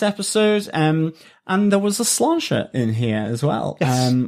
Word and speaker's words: Sláinte: Sláinte. That's how we pronounce it.